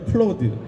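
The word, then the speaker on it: Claude: 어쨌건 클라우데라고 읽었었어요. 저는 클라우데라고 읽었었어요. 클로드인데.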